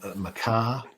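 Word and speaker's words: מיכה: in our 12 apostles he's referred to in greek as something approaching probably makias yeah machias or something uh in the latin vulgate again it seems to be a machias compared to the hebrew maca somebody like isaiah who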